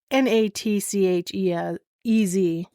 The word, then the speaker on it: Natchez: So he constructed the house along the, I think it's Natchez. Almost sounds like nachos. I don't think I'm saying it right. It's Natchez. Sorry. Yeah, nachos. Natchez. Okay.